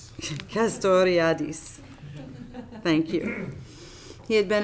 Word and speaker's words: Castoriadis: among uh Cornelius Custer I'd I can never pronounce this caste riotous castoriadis thank you he had been officially kicked out